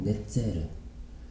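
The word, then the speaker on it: נצר: 히브리어로 넷제르. 첫째, 둘째, 셋째, 넷째에다가 르만 붙인 넷제르.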